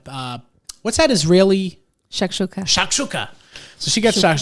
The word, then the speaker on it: shakshuka: meet and she got shakshuka so it was so on anyway Shuka Shaka sh listen if you're gonna say Shak Shuka you say it right Shak okay so this person